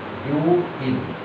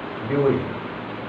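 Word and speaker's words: 病院: তারপরে উ একটা আসে, উ আসে, কিন্তু আমরা লেখার সময় উ লিখবো না, ও লিখবো, তার উচ্চারণটা ও হয়, বিউ, এরপর ইন, বিউ।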